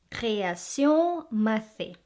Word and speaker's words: Création Mathez: Then we have my favorite truffle chocolates from Création Mathé. Création Mathé. So you don't pronounce the Z.